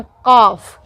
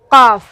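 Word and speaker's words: قاف: इसको बोलते हैं काफ। काफ, गला के साथ बोलना है, काफ।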